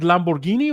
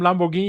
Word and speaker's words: Lamborghini: Is it Lamborghini or Lamborghini? Lamborghini. Lamborghini. Italians say Lamborghini. We in Germany we say for some reason Lamborghini. So Lamborghini is the right word.